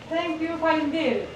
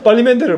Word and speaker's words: Faleminderit: Faleminderit. Fall 'em in there, fall 'em in there.